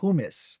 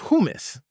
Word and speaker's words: humus: Pronounced humus. Pronounced humus.